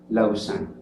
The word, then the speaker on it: Lausanne: municipio una ciudad pequeña se llama lausanne se escribe lausanne y con doble el ie y lo pronuncian ellos la usan ustedes pueden ingresar a